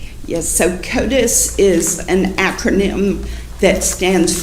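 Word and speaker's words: CODIS: So, Kotus is an acronym that stands for the combined DNA indexing system.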